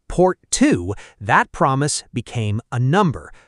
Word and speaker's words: Porto: Four years later, at a summit in the coastal city of Porto, pronounced Port Two, that promise became a number, a very specific one.